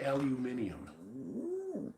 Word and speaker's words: aluminium: They say aluminium. They even spell it different.